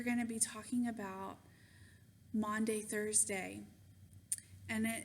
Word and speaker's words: Maundy: The word is Maundy. I'm Southern. I have a Southern accent, so sometimes it comes out in different ways. But it's spelled, just so you know, Maundy. It's not Monday, Thursday. That doesn't make any sense, really, does it?